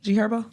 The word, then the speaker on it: G Herbo: G Herbo. Okay. You said her friend. And I asked you, was the H is silent? Yeah.